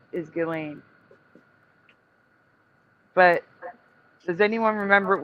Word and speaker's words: Ghislaine: Yeah, the proper yes, the proper way to pronounce it because it's in French is Ghislaine.